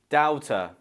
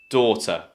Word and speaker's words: daughter: If you find this word difficult to pronounce, it's probably because of the first sound, the beginning of the word. A lot of my students make this mistake and they say doubter because they see the A and the U and